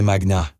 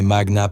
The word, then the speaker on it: magna: vous avez mal prononcé Magna. C'est Magna, pas Magna. En latin, l'accent se met sur l'avant-dernière syllabe quand elle contient une voyelle longue.